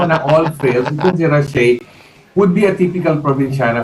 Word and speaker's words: Rachel: Actually, it's the way she pronounces her name is parang Rushe, okay. Rushe, something like that.